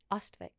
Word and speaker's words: Ostvik: Ostvik. Ostvik. I wasn't sure how to pronounce that.